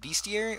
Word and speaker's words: Bestiary: a double vowel, and when you have a double vowel at the end there, it will put more emphasis on the first vowel, giving you a B, like B. Like B-E-E, you know.